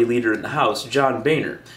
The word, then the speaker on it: Boehner: in the House, John Boehner, whose name would really be pronounced more like Boehner in German, but he has it pronounced like that so Americans don't call him Boehner.